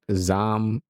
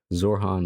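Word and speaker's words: Zohran: How do you say this guy's name? Um, with all due respect, Zam Mandani. Yeah, Zor. No, it's Wow, I said Zam. Zorhan Mandani, right?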